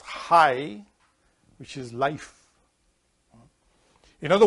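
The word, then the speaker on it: חי: Bob together United made letterhead which you pronounce hi which is life in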